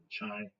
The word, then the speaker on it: chai: And everybody says, you know, um, you're pronouncing it wrong because I would call it chai latte. Because if you want a latte, but they say Kai latte, here it is, chai latte.